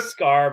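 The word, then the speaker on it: Skaar: what is his name scar s-k-a-a-r it's like sakar yeah it's like it's a scar but it's it's it's spelled in a weird way because sakhar is the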